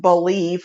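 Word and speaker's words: Bleav: a new network called believe b l e a v but it's pronounced believe like you believe and I believe and we believe so God bless them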